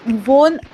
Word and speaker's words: wohne: इश वोन, उसका वर्ब का थोड़ा सा प्रोनाउंसिएशन कर दीजिए ना अच्छे से। वॉन यूज करना है आपको। आप अगर मुझे अच्छे से सुनाई नहीं दे रहा है, वोंट नहीं आना चाहिए, वो न आना चाहिए।